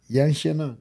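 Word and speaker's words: Yan Xiaonan: say say say the whole thing yan shanan yan shanan okay okay I said it right all right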